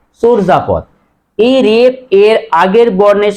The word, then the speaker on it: চর্যাপদ: আমরা অনেকে উচ্চারণ করি চর্যাপদ বাংলা সাহিত্যে প্রাচীন নিদর্শনের নাম কি অনেকেই বলে চর্যাপদ আসলে সঠিক উচ্চারণ চর্যাপদ হবে না হবে চর্জাপদ এই রেফ এর আগের